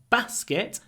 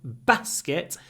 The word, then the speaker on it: basket: those words which is pronounced differently in the north of England and the south of England in the north it's a basket short sound Basket in the South it's a basket a double sound a a basket so